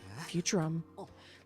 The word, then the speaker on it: Futurum: Futurum. That's the name of this planet. That's how it sounded pronounced in the local tongue anyway.